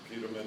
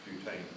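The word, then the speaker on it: putamen: the Pam and you got them all right mispronounced pamin it's putan you wouldn't know that unless you were here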